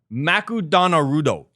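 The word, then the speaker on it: マクドナルド: changed the name to makudonarudo that was what they said instead of mcdonald's that's pretty good however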